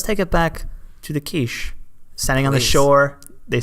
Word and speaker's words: Kizh: I'm gonna spell it the way that I saw that it should be said. Kizh.